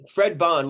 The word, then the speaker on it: Fred Bond: Fred Bond, like James Bond.